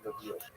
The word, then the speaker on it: Lviv: So this is in the western of Ukraine, not too far from Lviv, or Lviv as it's pronounced now.